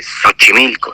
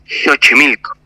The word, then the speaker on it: Xochimilco: en realidad es México o por ejemplo Xochimilco no que es un lugar muy emblemático de aquí a México si lleva x pues pues no se dice Xochimilco se dice Xochimilco en lengua náhuac no